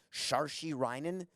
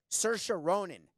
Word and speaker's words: Saoirse Ronan: he would know that I can't pronounce Shar she rinin so or seer inin Chiron and Rana Ninh coca would have it in my ear Saoirse Ronan Best Actress what about